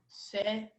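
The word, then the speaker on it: sé: Say.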